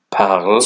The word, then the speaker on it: parles: But as it says here, don't be fooled, the S in parle is actually silent, so all these forms are pronounced the same.